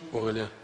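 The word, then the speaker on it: Aurélien: telaffuzu biraz Zor acaba kendisi söyleyebilir mi nasıl telaffuz ediliyorju aurelienju aelien Bir daha istersenizu or evet çok teşekkür ediyoruz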